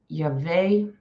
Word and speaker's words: Yahweh: Pronounced Yahweh. Okay, so I did do it right.